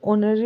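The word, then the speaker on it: honorary: ऑफ the club, तो जो ये ऑनररी वर्ड है, जो ये एच साइलेंट है, इसमें ओ की साउंड से स्टार्ट होगा, ओ हमारा क्या वोविल, तो यहाँ पर आ जाएगा एन।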